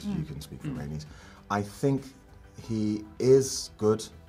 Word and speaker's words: Rhaenys: court, and then when I always get the name wrong. It's Rhaenys.